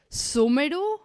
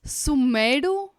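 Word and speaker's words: Sumeru: things and then like you don't pronounce sumero you pronounce sumedu what is wrong with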